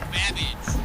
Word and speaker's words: Babbage: Your buzzer is the letter B as in Babbage, which is something that rhymes with cabbage.